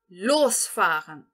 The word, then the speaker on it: losfahren: Aqui também, esse verbo losfahren, pelo motivo de eu entonar o prefixo, ou seja, a primeira sílaba dele, eu vou separar ele dentro de uma frase.